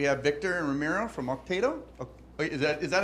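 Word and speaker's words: Okteto: We have Victor and Ramiro from Octeto. Wait, is that how you pronounce it? Octeto, yeah.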